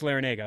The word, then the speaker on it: Larrañaga: Oh, it is just Larrañaga. Okay, great.